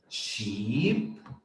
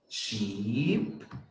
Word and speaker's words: sheep: we have for example sheep sheep if you notice it's a long sound sheep cheap but then